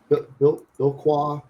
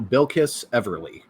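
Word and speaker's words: Bilquis Evely: Billqua. Uh, no. Bill Kiss Everly according to my good friend Google.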